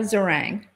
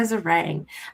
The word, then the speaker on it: Zeringue: Zeringue. Zeringue. And earlier, my producer had said it's like meringue, and now I'll never get that out of my head.